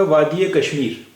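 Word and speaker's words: وادیِ کشمیر: है और फिर कश्मीर यह जेर जो है इसका उच्चारण यहां पर ए होता है तो अभी इसका उच्चारण होगा वादी कश्मीर वादी कश्मीर यह वादी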